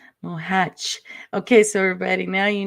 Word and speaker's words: Mohac: Well, actually, it's Mohac, like a Mohac. hedge. Yes, that's Yeah, right. Mohac.